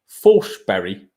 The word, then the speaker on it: Forsberg: But Emil Forsberg, or as he's apparently pronounced, Forsberg, that's what Sky Sports tweeted before the tournament. I don't know whether that's true. I don't speak Swedish.